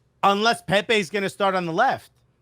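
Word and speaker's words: Pépé: he could play at arsenal but if nikola pepe because that's how we pronounce his name now if nicola pepe wants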